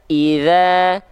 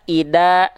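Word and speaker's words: إذا: ya mengganti dalz menjadi huruf Dal yang harusnya kita baca idza idza tapi kita baca Ida Ida Ida nah salah lah jangan Ida ya Oke selanjutnya jangan membaca huruf Dal menjadi huruf Zai eah dibacanya begini perhatikan Izza Izza salah ya jangan ya yang terakhir dibaca huruf dalzal menjadi huruf Jim jadinya begini Ija Ija ya Nah poin 2 poin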